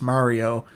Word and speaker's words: Mario: don't know why and it's like uh Mary lemie that's how we say it I I understand that it's pronounced Mario it's it's hard for